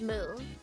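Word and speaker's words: 六: Well, see, that's what I'm saying because you can also pronounce 6 as Mu. But not everybody knows that because they usually only know Roku.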